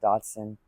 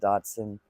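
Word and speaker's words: dachshund: however it's pronounced honestly I guess you pronounce it however you want I pronounce it doson I know a lot of people that pronounce it Dotson um I do make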